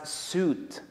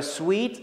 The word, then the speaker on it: suite: pronounce this word as soot which is because they confuse it with a word suit now what i am wearing right now is a suit but a sweet is different sweet is a set